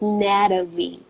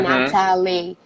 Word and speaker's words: Natalie: So, for example, Brazilians, they pronounce the T. In American English, we sometimes pronounce the T, but not always. So, like Natalie, we don't say Natalie, we say Natalie. So the T sounds like R.